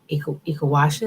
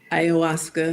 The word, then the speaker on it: ayahuasca: person had taken Ikawasha, am I saying it correctly? Ayahuasca.